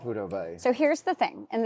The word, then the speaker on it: Prudhoe Bay: Did you ever wish that you had done it as, and I know I'm going to mispronounce it, but Prudhoe Bay? Yeah, Prudhoe Bay.